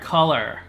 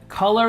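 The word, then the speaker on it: Kolor: camera at the time in 2015 GoPro acquired color that's spelled k o l o r color is a media and virtual reality startup based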